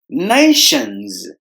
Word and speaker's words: nations: us tumultuous quiet quiet Nations there are two syllables in this word and we have to stress the first soul neigh must be heard with more volume than the other syllable Nations and you know